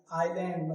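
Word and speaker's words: aisle: Island मतलब द्वीप, क्या होता है, द्वीप। जैसे यहाँ क्या लिखा हुआ, आइल, क्या लिखा हुआ, आइल, आइल, तो यहाँ एस क्या है, साइलेंट है।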